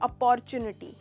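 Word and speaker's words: opportunity: अपॉर्चुनिटी, तो ये अपॉर्चुनिटी नहीं है, ये है अपॉर्चुनिटी। अपॉर्चुनिटी, इसमें आप स्ट्रेस करते हो यहाँ, अपॉर्चुनिटी।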